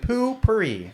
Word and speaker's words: Poo-Pourri: It was a really nice bathroom with poo-pourri.